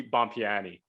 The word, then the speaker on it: Bompiani: very good friend from way back jesse bompiani how are you jesse i'm good how are